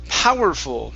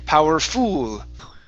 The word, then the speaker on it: powerful: Our next word is the word powerful. Now, in this word, you are stressing the end of the word, saying powerful. Okay? The stress is at the beginning.